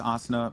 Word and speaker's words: Asuna: my kid okay no no no it's asana Puckett because it comes from an anime called sword art online I appreciate that there